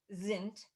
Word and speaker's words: sind: And in German, Die Gedanken is thoughts, sind, and remember in German, S is pronounced Z, sind, frei, free.